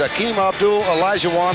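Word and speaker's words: Akeem Abdul Olajuwon: By the time he is through, you all will know how to pronounce his name. It's Akeem Abdul Elijahwan, the 7-footer from Lagos, Nigeria.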